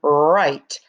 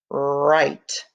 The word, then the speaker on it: write: the wr right so ren and right have the same beginning sound ren right but right has the